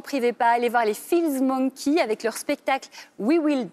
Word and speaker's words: Fills Monkey: Bonsoir Isabelle, et on commence ce soir avec Feels Monkey, c'est ça, je prononce bien? Exactement, c'est parfait.